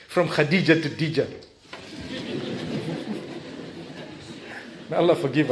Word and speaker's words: Khadija: Tell them Khadija, yeah. Kha, it's the Kha. Even teach them how to pronounce it. It's good. If they know you're a lovely person, they won't mind calling you Kha Khadija.